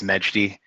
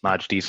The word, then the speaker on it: Majdi: in the corner with majdi and if i said your name wrong just straighten me out norris uh hey everyone my name is meghdy um majdee's fine i commonly go by that's what most of